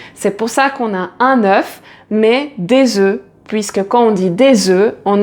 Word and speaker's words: œuf: Donc, imaginons que on dise un petit de petit, un œuf.